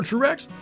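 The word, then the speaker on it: TRURACS: So uh basically it's um it's spelled T R U and then R A Cs. And I say that because it's an acronym. It stands for true random antler configuration system.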